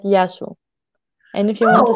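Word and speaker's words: Γεια σου: So, hello, it's Yasu. Yasu? Yes, it's Yasu. It's like ya, but if you want to say hello to you, it's like Yasu.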